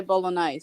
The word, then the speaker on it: bolognese: you like bowling eyes bolognese you do so bolognaise so you don't pronounce the g the g is silent bologna there you go